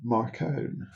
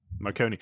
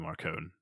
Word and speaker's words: Marcone: we are Um, specifically Gentleman Johnny Marcone. Marcone? Marcone, surely. Marcone. Yeah, I mean, Johnny obviously, Marcone. Marconi. Well, you said so. This is how James Marsters actually started off pronouncing his name, John Marconi.